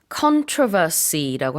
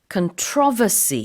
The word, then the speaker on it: controversy: 강세를 controversy라고 할 수도 있고 controversy 이렇게 첫 번째 음절, 두 번째 음절 다 가능합니다. 대체적으로 미국에서는 controversy라고 Yeah. 하고요. 영국에서는 controversy라고 하는데 자, 단어는 강세는 뭐 이렇게 둘 다 되고 의미가 논란이에요.